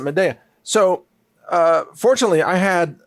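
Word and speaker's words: Midea: grown to trust and it's called Meda. M I D E A M or maybe you pronounce it media. Ma, I don't know. Midia. I pronounce it media.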